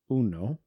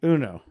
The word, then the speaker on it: Uno: Say the game of what? Uno. You kept saying you know. Yeah, you know.